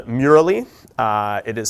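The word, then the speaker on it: Mural.ly: it off because i think it's fantastic called murali uh it is spelled m-u-r-a-l-l-y um we'll post the slides and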